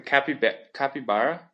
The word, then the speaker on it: capybara: The capybara? You should Google it. Capybara? Not like chupacabra.